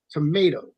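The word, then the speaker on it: tomateaux: called Creole Creole tomato it's not like tomato that you it's spelled Cajun way it's t-o-m-a-t-e-a-u-x tomato so and you could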